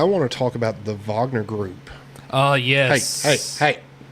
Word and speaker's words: Wagner: Wagner but it's pronounced Vagner it's pronounced German for some reason no no just Vagner